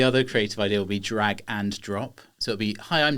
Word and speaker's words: dragNdrop: know how it sounds drag and drop so does that sound like dragon as in the animal drop you can see what's